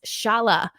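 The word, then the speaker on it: Šalé: other first rounders uh again it's pronounced Shala um so top five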